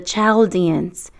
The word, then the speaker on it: Chaldeans: Like most of God's plans, it started in a place called Ur, which rhymes with fur, ruled by people called the Chaldeans, which rhymes with Sheldians.